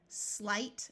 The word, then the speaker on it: slight: Note that GH will be silent in these words, just like it is in most English words. So we have height, slight.